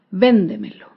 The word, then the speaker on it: véndemelo: por ejemplo la palabra véndemelo véndemelo se acentúa en la sílaba anterior a la antepenúltima sílaba véndemelo todas las palabras